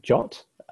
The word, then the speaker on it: JWT: a moment next is JWT JSON web token it's often pronounced jaunt so jobs have become